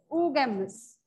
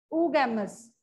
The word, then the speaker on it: oogamous: Oo term jab bhi aap padhenge double o is pronounced as oo.